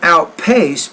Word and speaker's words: outpaced: husband Lucy the Charmander outpaced put that stress on the second part of that word not the first part of all talk so